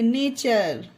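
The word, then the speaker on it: nature: ये देखिए URE वाला है जो आज ही की क्लास में हमने सीखा, URE, तो इसे नेचर, अर का उच्चारण दिया गया इसमें नेचर।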